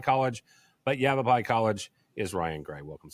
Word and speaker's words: Yavapai: I had to write out his college phonetically because the last time I had him on, I had a hard time saying Yavapai College, but Yavapai College is Ryan Gray.